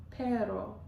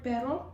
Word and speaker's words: pero: It looks like it should be pronounced pero. You could pronounce it pero, or you'll take the tip of your tongue, it would go behind your teeth in the bottom, and it'll end up